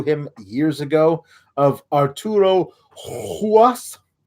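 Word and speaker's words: Ruas: It seems kind of backwards since they should have introduced us to him years ago, of Arturo Huas. It's spelled with an R at the beginning, but apparently is pronounced with an H at the beginning.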